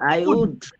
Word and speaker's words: would: আমরা উড ব্যবহার করব হ্যাঁ তবে উডের আরেকটা উচ্চারণের কথা বলবো অনেকে ভুল করে উড বলে ফেলে এখানে কিন্তু এল হচ্ছে silent letter so you don't need to pronounce the letter L hair আপনি সরাসরি পড়বেন উড হ্যাঁ উড ওই যে গাছ কাঠ আছে না